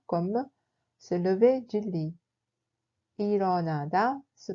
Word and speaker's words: 일어나다: 일어나다 se prononce comme 일어나다.